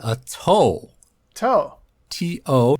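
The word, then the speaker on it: 斗: The next level up is called a toe. Toe. T-O, pronounced like the toe on your foot.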